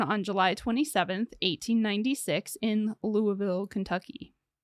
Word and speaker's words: Louisville: July 27 1896 in Louisville Kentucky Louisville Louisville you're putting too many syllables on that Louisville Louisville I can't